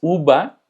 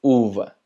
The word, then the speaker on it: uva: Y sí es muy importante que lo pronuncies de esta manera, Porque, por ejemplo, la palabra uva, si tú dices uva, no lo van a entender. Es uva. En español no hacemos esta diferencia.